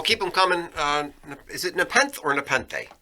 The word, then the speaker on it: Nepenthe: Is it Nepenthe or Nepenthe? I think you pronounce the E on the end.